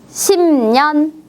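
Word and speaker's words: 십 년: 지금은 10년입니다 10년입니다 어때요 받침에 브 자음이 뒤에 있는 비음 느를 만나서 어떻게 바뀌었어요 10년이라고 바뀌었습니다 같이 한번 읽어 볼까요 10년 10년 10년네 10이라고 쉬지 않고 심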